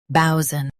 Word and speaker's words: boatswain: bow sun bowson Say bow strong and sun soft.